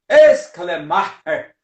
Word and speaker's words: Schleiermacher: Muito bem, ele nasce, o Friedrich, vamos pronunciar, aprender a pronunciar o nome, não é? De uma forma germânica. Friedrich Ernst Schleiermacher, né? Só que esse Schleiermacher, esse aí você até dá uma puxada aqui no esôfago, perigoso até se engasgar, né?